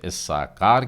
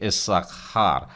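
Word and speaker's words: יששכר: तो ये आप अंदाज लगा चुके हैं, हम इसे इस्साकार कहते हैं। और इब्री उच्चारण में गले से आप उस उच्चारण को कर रहे हैं, इसलिए इस्साखार इस प्रकार से आएगा। और र का भी उच्चारण हिंदी बोलने वाले साधारणतः मुंह से, ज़बान से बोलते हैं, लेकिन र इस प्रकार से थोड़ा पीछे से आवाज़ निकलेगी तो सही उच्चारण मिल पाता है, इस्साकार।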